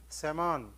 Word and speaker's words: psammon: Psammon, P is silent there.